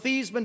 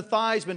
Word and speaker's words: Theismann: by just simply changing the pronunciation of your last name from these men to Theisman to rhyme with Heisman we can guarantee you